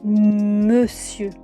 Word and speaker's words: monsieur: Premier mot, monsieur. Vous avez bien entendu, j'ai dit monsieur. Pourtant on écrit monsieur. Le on disparaît pour devenir eux. La raison, bah au Moyen-Âge, on ne disait pas monsieur en un seul mot, mais mon monsieur.